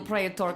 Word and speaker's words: praetor: Not really the dignified behavior you'd expect from a praetor.